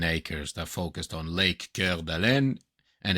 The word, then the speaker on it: Coeur d'Alene: They named them Coeur d'Alene, heart of an awl. And then, obviously, in American English, it became Coeur d'Alene. Right? Coeur d'Alene.